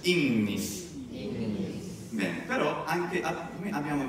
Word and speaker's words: ignis: manna, oh, che bellezza, incredibile dirlo, e poi Innis, Innis. Bene, però anche come abbiamo visto, secondo qualche romano, diceva anche Ignis e Magnus.